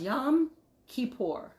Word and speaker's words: Yom Kippur: just saying yom kippur yom kippur is pronounced yam kippur yom kippur it comes